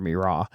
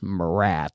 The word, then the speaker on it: Mira: is not part of Mira, and I always tell everybody it's not pronounced Marat. There are no rats.